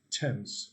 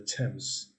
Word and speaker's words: Thames: it has a very it isn't pronounced as it spells like a lot of words right so it's the thames and wiltshire not wiltshire